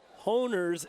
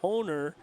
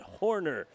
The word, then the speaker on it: Honer: tired of hearing Joe honer's name mispronounced um he's been hearing it mispronounced since the fifth grade so he's trying to help me get it right right it's honer it's honer not horer so Joe I'm sorry